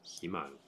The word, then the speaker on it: Iman: this one before but I would think that there would be an alternate pronunciation for Iman like that but they don't have that it's really just Iman Iman who knew all right